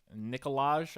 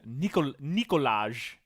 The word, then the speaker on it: Nikolaj: and I mean, hell, like Nikolaj, I think is his name. Coster Nikolaj. Waldau. I don't think the J is pronounced, but yeah. I'm making a Nikolai.